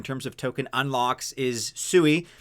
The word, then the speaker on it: Sui: I'm told that it's meant to be pronounced Sui.